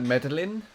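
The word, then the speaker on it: Medellín: It's pronounced like... Medellin? Medellin. Oh, that's weird. It just doesn't look like the word at all.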